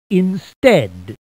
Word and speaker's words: instead: Collect the letters of the word instead in the proper order. Remember, in the word instead, the A is silent.